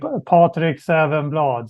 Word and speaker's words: Patrik Safvenblad: I would say Patrik Safvenblad. So it's kind Close of similar, but the vowel sounds are quite different in Swedish.